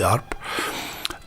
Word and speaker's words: harpe: Ceinture, c'est, vous savez, beaucoup d'autres instruments comme harpe, on dit harpe. En français, on ne prononce pas le H.